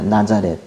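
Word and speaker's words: Ναζαρέτ: 이렇게 하지만은 그 원래 헬라 원 발음은 나자렛입니다 나자렛 발음이 같죠 그래서이 가지는 예전에 그 성경을 아시던 분들은이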